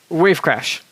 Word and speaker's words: WaveCrash: is, okay, let me see if I can pronounce this correctly since we talked about this before we started. WaveCrash.